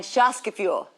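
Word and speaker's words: Gemeinschaftsgefühl: to memorize it you definitely don't have to spell it but let's just say it together one time follow me G mine Shas fuel Shas fuel yes you just learned German and it's a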